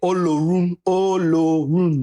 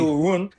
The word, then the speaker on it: Olorun: For my Nigerians, I know he's saying it wrong. I've been trying to get him to say it, but he just won't. Then say it. Olorun. That's why I keep telling you. Ulurun, right? I'm there.